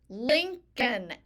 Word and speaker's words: Lincoln: learned about President Day linoln l i n c we make the C with a c sound link l i n c linoln o l n there's this silent L I don't know why linoln we make with